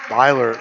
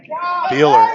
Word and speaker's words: Beeler: Brian Byler, is that how you say it? Beeler. I always say that wrong.